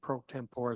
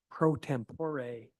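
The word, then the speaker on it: pro tempore: could would be amazing prot tempor but so our Council M Shan Newell who's not with us tonight will be our new uh mayor prot tempor prot tempore is actually how it's pronounced so uh we actually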